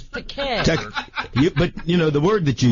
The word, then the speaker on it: Takei: Well, actually, you mispronounced my name. It's Takei.